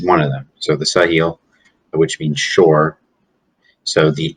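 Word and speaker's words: Sahel: of the uh the sahil which is s-a-h-e-l but it's pronounced s-u-h heel sa hell sahil uh which this means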